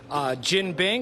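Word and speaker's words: jianbing: KT is making one, or the place is named after Katie, KT Cafe, and she's making Jin Bing. It's spelled J-I-A-N, but it's pronounced Jin Bing.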